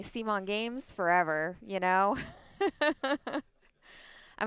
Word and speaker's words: C'mon: is doing they're like changing the way you pronounce CMON to C'mon. Is that right, Raya? C'mon Games. That's the new way that everybody's going to be saying it. C'mon. It's We're doing C'mon.